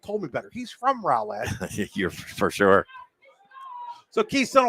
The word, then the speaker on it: Roulette: only in New York pronounce the role that my whole life and then found out the other couple weeks ago that it's Rowlett apologize to all the